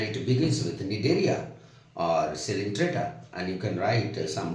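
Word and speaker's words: Coelenterata: Some people say coelentrata. No, it is pronounced as cylindrata, right?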